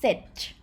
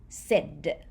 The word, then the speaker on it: เสร็จ: just like this with the dardik it's not pronounced sich with jojan in in consonant ending consonant has dodec ending sound so instead of saying sich you say sid with daddy indian consonant so to review everything